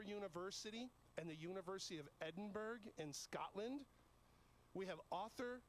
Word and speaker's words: Edinburgh: i know right and uh and three it's pronounced edinburgh not edinburgh well you know the way it's i actually